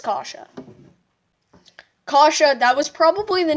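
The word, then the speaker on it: Kaše: last name pronounced the case I think it's kasha kasha that was probably the name that was hardest for me to pronounce on I first like last season you're right kasha okay domi wins the draw takes a shot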